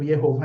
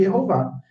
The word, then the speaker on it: Yehová: Ele vem de Yehová. Vai dizer que é gramaticalmente impossível Yehová em hebraico? Dentro da fonologia do hebraico, nós temos a primeira sílaba, erro. É uma sílaba aberta, pré-tônica, com vogal longa.